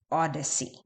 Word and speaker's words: OHDSI: and informatics uh and it's O DSi pronounced Odyssey uh and this is